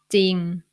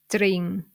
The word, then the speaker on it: จริง: For example, จริง สร้อย สี And even if you want to pronounce the รอเรือ cluster in these words, it's going to be hard. For example, ตริง สร้อย สรี So you don't need to force yourself to do that. You just ignore รอเรือ consonant sound and pronounce it without the cluster sound.